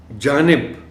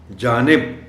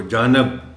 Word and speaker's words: جانب: خاص توجہ چاہیں گے۔ جانب، اس لفظ کے تلفظ میں خاص جو علامت ہے جس کا خیال رکھا جانا چاہیے وہ ہے نون کے نیچے زیر۔ جانب، امکان یہ ہوتا ہے